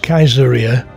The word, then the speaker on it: Caesarea: here's my shot i suppose in those days caesarea would have been pronounced kaiseria in latin that's where the german kaisers got their names the city was populated